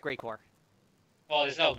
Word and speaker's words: Geigor: It's pronounced Greycore.